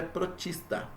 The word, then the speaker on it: protista: Ou também protoctista, muitas vezes se escreve, mas a forma correta de se ler é protista.